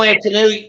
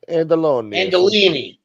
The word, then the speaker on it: Andolini: Vito Antonelli, and what was his name? You can't pronounce it. You sound like Lee right now. Ellis Island, they changed it to Corleone. Yeah. Oh, Vito Andolini.